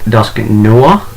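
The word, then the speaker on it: Dusknoir: know and yes I know technically it's pronounced pronounced dusky Noah but I do not like the sound of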